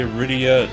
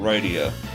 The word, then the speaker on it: Rydia: exactly gary says also I say Rydia not right eeeh when I was little I thought it was right yeah I I not only said it the second way but I put the emphasis on the wrong syllable gary says fade-out